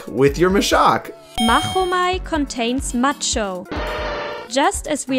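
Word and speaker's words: Machomei: as mahu that's because if pronounced correctly mahomai also sounds the same as the old greek word for i fight so it contains another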